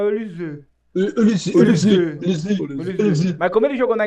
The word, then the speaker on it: Olise: Pra mim, assim, se é pra falar em francês, a gente tem que fazer biquinho, então é Olise. Mas como ele jogou na Inglaterra e na Alemanha, lá deve ser Michael Olise.